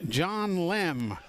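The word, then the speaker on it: Lemm: L-E-M-M, John Lem. Spell it how you will.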